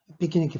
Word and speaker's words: piquenique: 피키니키, 파제 피키니키. 발음은 피키니키라고 하죠.